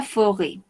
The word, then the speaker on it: forêt: les animaux de la forêt. Les animaux de la forêt. Comment dit-on forêt en espagnol? Bosque o selva, oui, très bien. Les animaux de la forêt. Forêt. No pronunciamos la T.